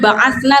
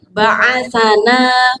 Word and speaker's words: بعثنا: Bukan ba'atsna tapi ba'atsana mim marqadina.